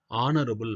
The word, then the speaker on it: honorable: பாருங்க, he is not a honorable man. இந்த honorable man அப்படின்றது உச்சரிப்பு ஹெச் இருக்கு, ஆனால் உச்சரிப்பு வந்து வவல் சவுண்டு. அந்த வவல் சவுண்டுனால வவல் சவுண்டுக்கு முன்னாடி ஏ வரக்கூடாது. அப்போ என்ன வரும், he is not an honorable man வரும்.